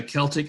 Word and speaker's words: Celtic: cuts by the way a Celtic and Celtic are both correct pronunciations he can say it either way the word Celt or